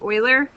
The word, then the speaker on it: Euler: It's called the natural number, or the Euler number. E, it starts with EU, but it's pronounced Euler.